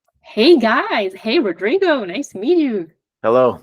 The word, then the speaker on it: Rodrigo: I'm Rodrigo. That's how you say it properly in Spanish. People in English, you can say Rodrigo. That's okay as well.